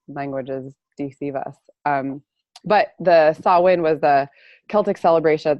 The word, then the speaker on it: Samhain: know how those languages deceive us but the saw Wayne was the Celtic celebration at the end of